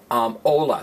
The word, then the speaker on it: hola: letter H anybody say hola hola now all I means hello it's spelled hol a but it's pronounced hola the H is silent you don't want to